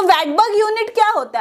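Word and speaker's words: Svedberg: इसमें एस भी दिख रहा होगा बट मैं आपको बताऊं एस जो होता है वो साइलेंट होता है, तो हम इसको कहते हैं वेटबर्ग यूनिट। स्वेटबर्ग यूनिट भी कभी कभी कह देते हैं, नो प्रॉब्लम, बट जो सही है वो यही है कि वेटबर्ग यूनिट कहते हैं।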